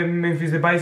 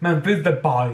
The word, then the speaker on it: Memphis Depay: Bueno, no se dice Memphis Depay, se dice Memphis Depay.